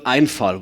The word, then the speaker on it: Einfall: So the word Einfall, which rhymes with Zufall, can mean a lot of things, but in English there are 2 translations.